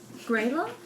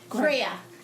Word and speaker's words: Greya: Grayla? Greya. Like gray with an A.